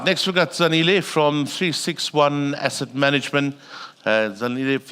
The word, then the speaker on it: 36ONE: So, sometimes it's 3601. My personal favorite is 360. Um, but it is actually 361 just to get that out of the way.